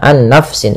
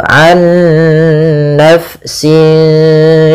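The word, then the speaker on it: عَنْ نَفْسٍ: Nah, kesalahan yang terjadi tidak menahan gunnahnya, an nafsin langsung, tapi benar ditahan dulu, an nafsin syai'a.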